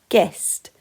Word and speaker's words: guest: For example, in the word guest, G-est, you can't hear the U.